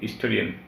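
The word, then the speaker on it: historian: আর এখানে হি ওয়াজ অ্যান হিস্টোরিয়ান, হিস্টোরিয়ান উচ্চারণ করতে এইচের কোনো উচ্চারণ নেই, উচ্চারণ শুরু এখান থেকে, আই থেকে।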